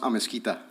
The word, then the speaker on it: Amis: your last name uh last name is pronounced Amis Amis yes sir okay awesome